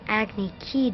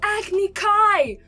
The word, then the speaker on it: Agni Kai: were sentenced to an Agni ki duel wait what a geek how how he pronounced things this badly it's Agni Kai Oh and how can